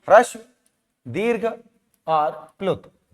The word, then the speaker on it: ह्रस्व: ये देखो ह्रस्व लिखा है ना, ये हा आधा है, रा पूरा है, फिर आधा सा है, फिर वाह है, इसे कहते हैं ह्रस्व।